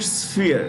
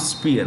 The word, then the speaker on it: sphere: in the past that sp is pronounced with an sf when you pronounce it sphere not spear what is it sphere